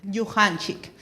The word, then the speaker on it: Yuhanchik: actualmente ocupa ella es directora de noticiero quechua Yuhanchik. ¿Está bien pronunciado? Sí. Yuhanchik.